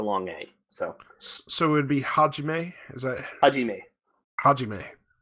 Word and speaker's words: Hajime: almost always a long a so-so would be Hajime as I i dinnae Hajime okay um apparently